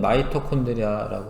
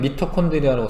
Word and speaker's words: 마이토콘드리아: 세포 호흡이 일어나는 장소는 세포 내에 있는 마이토콘드리아라고 하는 예전 책에는 미토콘드리아라고 써 있었는데 하여튼 요게 뭐 더 본토 발음에 가까운 거고요.